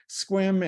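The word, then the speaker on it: Sequim: So it has a huge range, but obviously it doesn't know how to say squim, and I really don't blame it because squim kind of confuses a lot of people.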